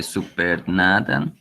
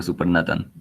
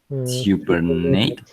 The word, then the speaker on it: supernatant: Careful remove the supernatant and dry the peel Pellet.